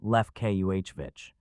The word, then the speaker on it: Lefkovich: Clear in its every serif, and it said Lefkovich, he knew, and as he said it to himself, he placed its accent on the second syllable, Lefkuhvich.